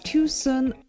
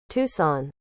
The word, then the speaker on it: Tucson: Number three, the location of Nell's Diner is Tuson. Tuson. Is that how you pronounce it? Tucson.